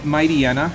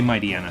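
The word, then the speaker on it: Mightyena: you keep hitting aaron if you say mighty might i might might ain't there we go i say my diana so it takes a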